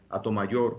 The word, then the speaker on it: Hato Mayor: Entonces, lo del nombre de Atomayor, que lo pronunciamos de esa manera, Atomayor, como si fuese un